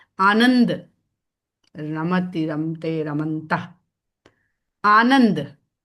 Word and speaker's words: राम: राम राम म कहने के लिए मुंह खुलेगा और राम मुंह बंद जो सही उच्चारण नहीं है। राम के लिए सही उच्चारण है राम।